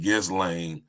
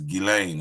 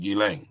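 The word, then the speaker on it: Ghislaine: with the British accent her name isn't giz L is gilain it's French you pronounce it gilain or gilan right Guillotine or gutin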